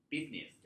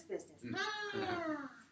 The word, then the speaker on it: business: Oh, maybe though they quit that company and started up this business. Okay, good. Are they good for today? 做了这么多生意，不知道生意怎么说，生意说错了。对，你如果你想做生意啊，哈，这个生意这个是很重要的一个词儿啊。对，这个字你要学的这个发音，你学的对的。OK， business。 Business. 2 syllables. Business.